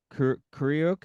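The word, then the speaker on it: Kreuk: Speaking of casting, Kristen Kryuk, is that how you say it? Crook. It's Crook.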